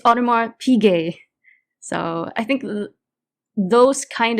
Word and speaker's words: Audemars Piguet: He posts videos like someone mispronounced Audemars Piguet, so he stitched that, and this kid saying, look at this Audemars Piguet that I have, and he stitched it, and it's Audemars Piguet.